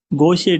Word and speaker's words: Gaucher: तो I will share later on कि या we pronounce as गोशे Gaucher disease, and this is Gaucher disease.